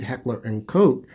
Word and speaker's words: Heckler & Koch: Let me pronounce that right, Heckler & Koch VP9.